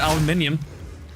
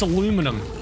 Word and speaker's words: aluminium: They're like, what do you mean aluminium? It's aluminum. No, it's spelled aluminium. Well, we don't want to say aluminium, so we're gonna remove the letters so it's aluminum now.